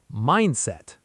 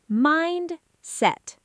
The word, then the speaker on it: mindset: Mindset. Mind-set. The stress is on mind.